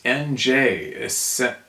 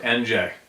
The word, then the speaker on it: Angers: Nope, no one pronounces it right the first time they read it, so it's fine, LOL. It's NJ, essentially the N, like in French. Oh, Mark NJ.